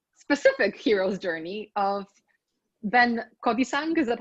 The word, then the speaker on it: Kodisang: Um our session now today is about the hero's journey and more specifically the specific hero's journey of Ben Kodisang.